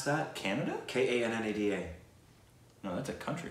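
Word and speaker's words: Kannada: Is it Canada? And is that how you pronounce that? Canada?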